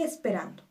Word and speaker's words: esperando: Esperando es una palabra grave. Nuestra sílaba tónica es ran, pero termina en vocal. Por lo tanto, no se acentúa.